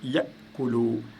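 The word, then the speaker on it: يأكل: Ça se passe vraiment c'est un coup de glotte, ce qu'on appelle le coup de la glotte. Donc ici, au lieu de dire, vous ne pouvez pas dire yakulu, vous dites yakulu, yakulu.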